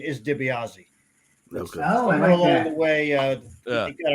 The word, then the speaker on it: DiBiase: glad to be here fellas oh man I pronounce it Tobias Tobias the correct Italian pronunciation is DiBiase along the way uh got Americanized so you